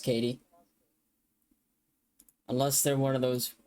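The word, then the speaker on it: Caity: at the same time I thought they'd pronounce It Caddy and you know what Google translate pronounce it for me Katie yeah it's pronounced Katie unless they're one of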